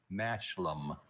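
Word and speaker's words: mashlum: Mashlam.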